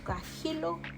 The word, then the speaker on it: guajillo: And um so guajillo chile guajillo cuz they miss the H sound.